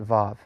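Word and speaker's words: ו: fourth difference is that in modern Hebrew they prefer as mentioned earlier that the Wow to be pronounced as a V sound and they call it volve that's the only difference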